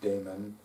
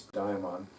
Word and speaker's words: daimon: with your inner diamond the diamond d-a-i-m-o-n although it is spelled a little differently in different places it's also pronounced differently in different places pronounced daemon by some people but typically it's it's diamond and this inner self